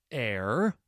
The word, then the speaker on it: heir: Some words that start with the letter H have a silent H, so you do not pronounce it. There is honestly and our. What else? Herbs, H-E-R-B, in American pronunciation. Honor, H-O-N-O-R. Heir, H-E-I-R. I will make a silly